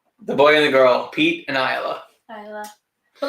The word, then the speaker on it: Isla: Isla. But like, what do you name? Like, I really like the name Isla, but like, what is the middle name? And everyone is gonna call her Islay.